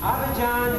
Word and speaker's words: Abidjan: Who has come from, how do you pronounce it, gentlemen? Abidjan, Africa.